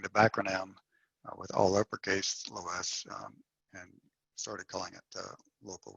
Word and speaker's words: loess: There's like less and loess and less. So there's so different people use different pronunciations, I imagine, but I'm calling it loess. It makes it a little easier to distinguish than less, even though less might be more correct.